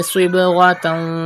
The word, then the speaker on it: صبغة: Pronounce sad with thicker voice because it is from mustaliya letters, and do qalqala in ba because ba is from qalqala letters.